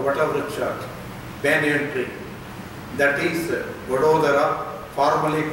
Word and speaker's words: Vadodara: So Vata Udara Vadodara. English people, because they doesn't know properly pronounce, they are called Baroda.